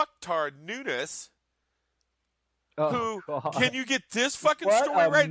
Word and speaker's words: Nunes: Latin dude he's Portuguese it's Nunes still Nunes no it's Nunes it's pronounced different because it's Portuguese H okay I may